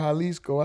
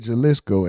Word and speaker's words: Jalisco: I said it's called Halisco. I said Jaliscoco. And I know the J is pronounced as a H.